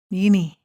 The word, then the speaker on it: Ngyini: Ngyini.